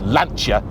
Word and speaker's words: Lancia: It's Lanchia, don't you know?"